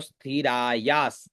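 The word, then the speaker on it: स्थिरायास्: स्थिराया आधा स आधा स थिरा या आधा स तो स्थिरायास त्वद आधा त व और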